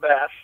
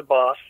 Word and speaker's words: Bas: And Boss is spelled with one S. I always tell these people, it's not Bass, it's the Boss.